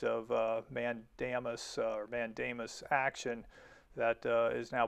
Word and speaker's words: mandamus: what's called a complaint for a writ of mandamus now my wife's a latin teacher she tells me it's pronounced mandamus but whatever so what that is is a